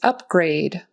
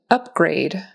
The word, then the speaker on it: upgrade: The first word is upgrade. Upgrade. So, this is like a noun. So, the syllable stress is going to be on the first syllable.